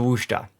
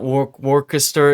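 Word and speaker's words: Worcester: high point I have to say is the woa it's not war waras it's not Worchester Shire woa is the is the way that I've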